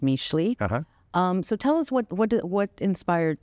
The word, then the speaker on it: Mixtli: I'm dying to hear how you curate your menu, where the name came from, because it's spelled Mixtli, but it's pronounced Mixtli.